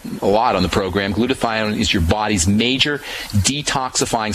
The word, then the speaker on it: glutathione: the negative effects of chlorine building up your glutathione levels is very important glutathione is you may remember from uh we've talked about it a lot on the program glutathione is your body's major detoxifying substance and by